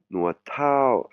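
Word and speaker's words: นวดเท้า: Nuat Thao, Nuat Thao, hein, vous voyez, TH, ça se prononce comme je l'indique dans la leçon, prononciation, intonation, ou dans le tableau de votre fichier de voir les prononciations. TH se prononce un T avec de l'air qui sort, hein.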